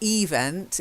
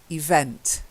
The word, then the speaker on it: event: Then the next one, your pronunciation was fine. It's just the stress and intonation. Event. So it's not event, it's event. Try it. Event.